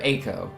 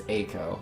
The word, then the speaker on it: Eiko: Or Eiko, excuse me, it's Eiko. I'm saying it wrong.